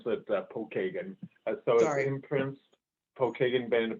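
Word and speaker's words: Pokagon: oh thank you yeah it's uh actually we pronounce it uh paul kagan uh so i imprints pokemon padawan in the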